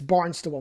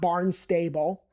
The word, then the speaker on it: Barnstable: It's Barnstable, not Barnstable. That sounds kind of stupid.